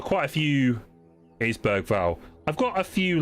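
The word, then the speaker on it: Bergvall: It's just Berg Val, isn't it? Um I've also got quite a few. It is Berg Val.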